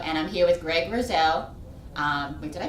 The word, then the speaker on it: Loerzel: I'm your host, Dawn Santoriello, and I'm here with Greg Loerzel. Wait, did I pronounce that right? Loerzel, sorry.